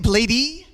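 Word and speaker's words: Bladee: Whoever uploaded this, they purposely auto-tuned only when Bladey speaks. No one else is auto-tuned except him. Yeah. How do you say it, Bladey? I say Blade, but you can say Bladey too.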